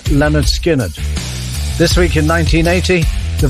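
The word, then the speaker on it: Lynyrd Skynyrd: skinnard released their debut album called pronounced Leonard skinnard this week in 1980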